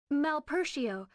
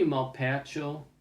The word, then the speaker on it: Malpercio: At least she pronounces it in a proper way. Like, Malpertio, I don't know. It could be Malpercio. Malpercio. That sounds more Italian.